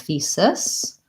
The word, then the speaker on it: thesis: the vowel so I would say instead of thesis I could try thise it and then and